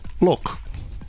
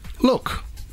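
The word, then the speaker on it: Lewck: at the moment he his name is pronounced look so you spell it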